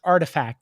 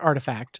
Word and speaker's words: RTFKT: nft studio uh pronounced artifact it's spelt rtfkt but it's pronounced artifact the terms uh haven't